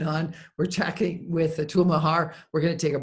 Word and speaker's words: Mehra: We're chatting with Atul Mehra. He's corrected me on how to pronounce it. Is that right? Atul Mehra?